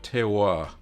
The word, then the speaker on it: terroir: Cool Cat says, that's right, you've pronounced it perfectly. Terroir. I think that's it, without the R.